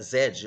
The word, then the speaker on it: Z: é exigir só que no inglês britânico né lá na Inglaterra a pronúncia Zed Olha que interessante Então